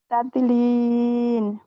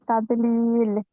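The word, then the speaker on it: تَضْلِيل: যেমন আলম ইয়াজ আল কায়দা হুম কায়দা হুম ফি তাদলিন। জি আপু, এখানে তাদের লিন লিন বলছে, লাস্টে নুন উচ্চারণ হচ্ছে, নুন উচ্চারণ হবে না। হ্যাঁ, লিল লিল। লিল। হ্যাঁ, তাদলিল।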